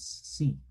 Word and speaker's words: seat: Esta vamos a decir sit. Sit. Y esta es una I larga.